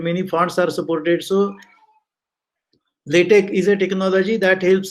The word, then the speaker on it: LaTeX: It is spelled as LATEX, but it is read as LaTeX.